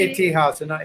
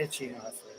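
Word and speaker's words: इतिहास: Itihasa, not Ichihasa.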